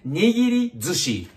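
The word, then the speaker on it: nigirizushi: The most common type of sushi in Japan is nigiri zushi. Nigiri zushi, not sushi. Sushi zushi, okay? Nigiri zushi. Just sound sushi. But nigiri zushi, yeah, nearly a bit different phrases, okay? Yeah, nigiri zushi, okay.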